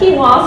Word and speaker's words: quinoa: like you know so it's a but that's quinoa so that means you probably have had it